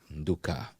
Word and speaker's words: Nduka: Let's hear the correct and the right pronunciation. Yes, Nduka. Wow. Nduka.